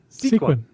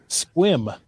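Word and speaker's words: Sequim: had somebody correct me because I said sequin. Yep. Sequin. That's how it's spelled. No. Squim. Yeah, it's squim. Yep. Silent E and U, apparently.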